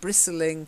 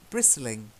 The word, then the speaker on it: bristling: And bristling can also be a feeling of being annoyed. But it's a silent T in each case. So try it. Bristling.